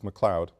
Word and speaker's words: McLeod: spelling is correct and the pronunciation is correct it's McLeod mayor McLeod Bethune the